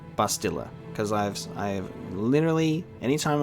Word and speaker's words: Bastila: have to unlearn saying bastila because i've i've literally anytime i've seen it come up i've always just assumed that it was bustilla and it's bastila and it's i'm gonna have